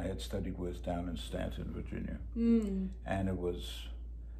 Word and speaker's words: Staunton: Stanton is spelled S-T-A-U-N-T-O-N.